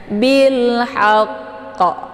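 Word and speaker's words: بالحق: terdapat di pertengahan ya jadi karena di sini ada tasdidnya maka kita harus sempurnakan tasydidnya dulu baru dipantulkan hurufnya bilhaqqo ya jadi sempurnakan dulu tasdidnya ee bilhaqq jadi kayak digantung gitu sebenarnya bacaannya tidak putus ya Tapi karena kita sudah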